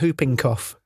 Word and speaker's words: whooping cough: And you certainly don't pronounce the H before the W.